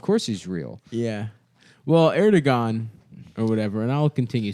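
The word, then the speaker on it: Erdoğan: Erdogan. Yeah, that's his name. That's how you pronounce it.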